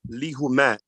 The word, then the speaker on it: Lehumaat: And that's pronounced lihumat.